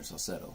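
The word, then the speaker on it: Saucedo: two and one cetto is the pitcher Taylor cetto so that's how you pronounce it got it two in one pitch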